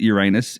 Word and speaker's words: Uranus: They pronounce it Uranus in Missouri, yes.